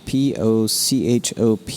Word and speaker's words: Pochop: Jana Pochop, P-O-C-H-O-P, the H is silent, refers to herself as New Mexican and as a nerd.